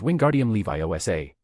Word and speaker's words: Wingardium Leviosa: You're saying it wrong, Hermione snapped at Ron. It's Wingardium Levi OSA. Make the gar nice and long.